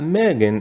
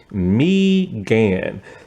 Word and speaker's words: Megan: played by mean follows It's not Megan even though it spelled like Megan it's mean so this woman is